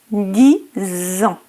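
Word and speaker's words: dix ans: Le X final de 10 se prononce Z en raison de la liaison avec le mot qui suit. 10 ans.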